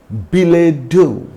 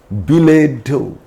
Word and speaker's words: billet doux: For example, ballet, waffle, bouquet, gum, and billet doux, the love letter, billet doux. So, the words which are directly taken from French and if those words end in ET, T is generally not pronounced.